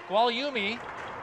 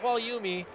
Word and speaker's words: Gualiumi: a player for merrimack it's gualiumi the freshman sensation kwaliyumi is the one with the three goals we were mispronouncing his last name his dad was nice